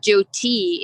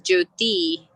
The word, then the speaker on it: Jyoti: time saying my name it's not joe t it's jyoti that's not there in english so um but art